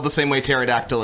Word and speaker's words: pterodactyl: spelled the same way pterodactyl is with p at the beginning with the silent p oh my god um